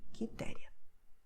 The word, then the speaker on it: Quitéria: The U is silent here, okay, QE, QI. So you have Carlos, Marcos, Custódio, Henrique, Quitéria.